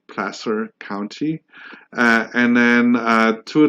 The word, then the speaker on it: Placer: not from the area a lot of people pronounce it Placer so that's one way for us locals to